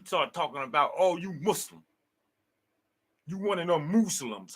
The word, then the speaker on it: Muslim: But I definitely, when I first heard that shit, I'd be like, yo, it's not pronounced Muslim, y'all. It's a Muslim.